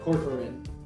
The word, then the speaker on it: Corcoran: Kaufman, and starred the film, Katherine Cororin. Did I pronounce that right?